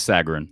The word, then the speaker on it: Sagarin: for basketball so they both do conference ratings pronounce Sagarin by the way yeah okay so I went